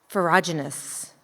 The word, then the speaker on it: ferruginous: Ferruginous hawk.